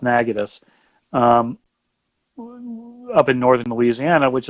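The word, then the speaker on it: Natchitoches: like negative spelled like nacho cheese because it's pronounced nagging us up in northern Louisiana which is again half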